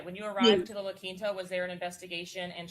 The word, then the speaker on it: La Quinta: And she just taught me how to pronounce it, La Quinta.